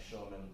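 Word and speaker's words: Schoeman: And both those collections by Roy Schumann, but it sounds like Schumann, but it's spelled like Schumann. S-H-O-E is the author in his famous book, The Salvation of the Jews, and their collection of stories.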